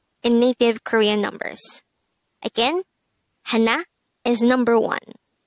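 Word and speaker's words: 하나: numbers number one is hana in native korean numbers again hana is number one this is composed of two syllables the first syllable is ha second syllable is na pronounce it with me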